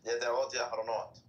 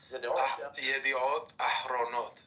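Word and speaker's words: ידיעות אחרונות: Yada'ot Yahronot. No, wait, you're saying it wrong now. So you said the second word wrong. So the first word is Yediot. Yediot Ahronot. Ahronot, not Yahronot. Not Yahronot. Ahronot.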